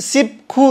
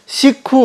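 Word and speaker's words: 십구: हैन सिखु हुने भयो यसको उच्चारण चाहिँ सिपखु नभएर सिखु हुन्छ है सिखु यसको उच्चारण चाहिँ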